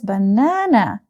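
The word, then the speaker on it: банан: And this is banana. You can say it on the picture. And we read the Russian word banan. Banan. Banan. The second syllable is stressed and we have banan.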